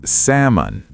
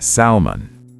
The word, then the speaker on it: salmon: It's salmon, not salmon. Salmon. Like Sam plus un.